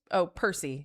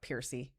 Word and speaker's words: Percy: Who's Percy, not Piercy.